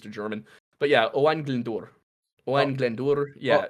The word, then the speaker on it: Glyndŵr: Owain Glyndŵr. Owain Glyndŵr. It's hard for me to not put the H in between the W there, because I'm so used to German. But yeah, Owain Glyndŵr.